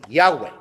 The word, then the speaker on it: Yahweh: Otras personas admiten que una forma de pronunciarlo mucho mejor que Jehová es Yahweh. ¿Okay? Está basado en lo más cercano que tenemos a la verdadera pronunciación en hebreo.